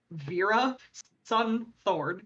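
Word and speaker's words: Veerasunthorn: chris buck and fawn vera schumthorne that is her real last name vera sun thorne it is exactly how it's spelled uh outline story which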